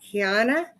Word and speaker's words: Kiana: She is married to Coy Pilson, and they have two children, Corey and Kiana. Did I pronounce Kiana's name right?